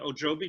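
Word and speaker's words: Ojibwe: And the Native American woman from the Ojobi tribe, did I say it right?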